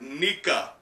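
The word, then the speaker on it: ニカ: the translation note says it's pronounced like nica in japanese as in like sun god nika which is confirming a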